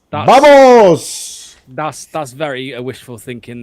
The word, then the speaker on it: vamos: By the way, it's not actually in in Spanish Spanish and it's actually the V is a B pronounced as a B. So it's more like vamos.